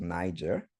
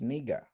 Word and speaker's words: Niger: that was also called the audio there pronounced it as Niger just like we pronounced that country in West Africa today but if you open the concordant and you read and you play the pronunciation it's neiger which is derived from